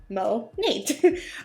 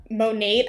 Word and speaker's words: Monat: monet or monat but since it stands for modern nature mo nate um i just had to funny that like there's not a cohesive way of saying monet i said monet for